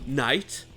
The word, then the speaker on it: knight: Le "k" est silencieux donc ça se prononce juste "n" comme dans "know" "knight" ou encore "knee".